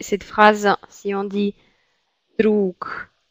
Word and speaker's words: друг: Et vous voyez qu'ici on prononce que, et ici on prononce g. Druk, druga.